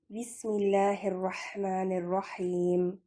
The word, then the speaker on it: بسم اللہ الرحمن الرحیم: رحم فرمانے والا ہے۔ تلفظ، بسم اللہ کو پڑھنے کا صحیح طریقہ یہ ہے، بسم اللہ الرحمن الرحیم۔ اب تھوڑی سی تفسیر